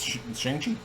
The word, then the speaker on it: Shang-Chi: But for years I've always pronounced it Shang-Chi. It's Shang-Chi.